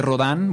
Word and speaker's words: Rodin: Yo creo que les invito a a buscar en internet eh esculturas de Rodán, bueno, se escribe Rodin, e y van a